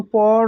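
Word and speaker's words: প'রো: যেমন পর অয়কার পরও, এটা বর্তমানের অনুজ্ঞা, বর্তমানকালের। কিন্তু যখন প আর রয়কারের মাঝে একটা ঊর্ধ্বকমা বসিয়ে দেবো তখন সেটার উচ্চারণ আর পরও হবে না, হবে পুরো, ভবিষ্যৎকালের অনুজ্ঞা।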